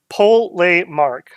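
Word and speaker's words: Polemarch: As per my community post, if I could decipher what people were trying to suggest for pronunciations, it looks like it's Polemark.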